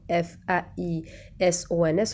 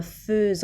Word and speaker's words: faisons: fait F-A-I-T, nous faisons F-A-I-S-O-N-S وكنت تشوفوا قلنا faisons ما كتبناش le E قدام ال F كتبنا A-I بصح يتنطق E donc faisons, vous faites A-I-T-E-S, il ou elle font F-O-N-T.